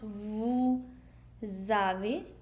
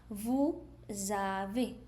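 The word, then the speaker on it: vous avez: Those who have pronounced vu zave. That's right. Vu zave.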